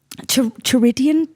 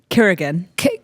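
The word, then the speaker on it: Çırağan: Chiridian Palace? Kirigan Palace. Kirigan Palace. But I think they pronounce it ch in Turkey.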